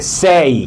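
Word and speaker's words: say: সেই, একটু আগে যেটা বলেছিলাম, যদি কোনো ওয়ার্ডের শেষে কি থাকে, এই ওয়াই থাকে, তাহলে কি হবে? এই উচ্চারণ হবে, সেই।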